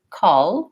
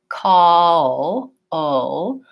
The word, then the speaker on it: call: in the mouth so I'm not just saying call with a front L I'm saying call o with my tongue back and with a small